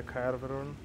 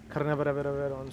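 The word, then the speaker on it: Carnarvon: I think we can get one from the Carveron. Carnaveron, sorry. That's the right way to say this vehicle. Sort of the right way to call the name.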